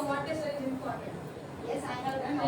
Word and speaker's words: Montessori: Montessori. It's not Montessori. Montessori. It's Montessori.